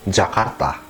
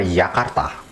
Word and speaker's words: Jakarta: about the German alphabet, The letter J is pronounced yot in German But there are exceptions for foreign names: So Jakarta is still pronounced Jakarta, not Yakarta.